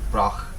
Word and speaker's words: Brách: Was I pronouncing Erin go Brách wrong? Erin go Brách. Yeah. Brách. Brách. Right. So like broccoli, but Yeah.